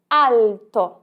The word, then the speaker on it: alto: isso não deve acontecer a letra L tem o som de L então alto em italiano dizemos alto alto veja só como L é bem pronunciado alto você sobe a língua